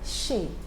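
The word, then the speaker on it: chez: z okay so but when you have z at the end of a word like in the word shay the z is silent among what we've said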